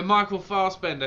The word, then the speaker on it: Michael Fassbender: Yeah, Michael Fassbender.